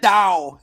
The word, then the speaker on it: doll: I ain't going nowhere without that dough. Without that doll. Without a doll. Both Sinbad and Arnold mispronounced the word D-O-L-L. It's like dow.